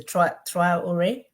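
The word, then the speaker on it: Traoré: Is a Traore. I can say his name correctly, right? We can see how Yes. the, huh? Yeah. I can Ibrahim see, Traore, yes.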